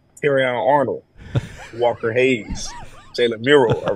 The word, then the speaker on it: Terrion Arnold: Hayes J Mill and terion Arnold are releasing a country song that is amazing no no no no no look look you said it wrong tyion Arnold Walker Hayes jaylor mural